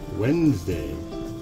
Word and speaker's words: Wednesday: A silent D, Wednesday.